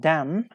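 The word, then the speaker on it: damn: da m and n how can we pronounce it we pronounce like them we don't pronounce n yes n is a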